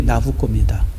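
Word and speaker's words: Nabucco: 나 붙이는 말했듯이 뭐냐면 누부관데사를 이태리식으로 발음하면 그게 나부꼬입니다 그래서 이제 누부가 몇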